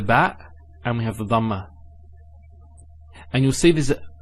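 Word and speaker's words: ضمة: Some people actually they don't say it with a dad. They say it with a dal. So they say dhamma. It's not dhamma. It's dhamma.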